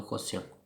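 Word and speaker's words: quotient: هنا كنقول لو كوسيون واخا تي كتنطق اس.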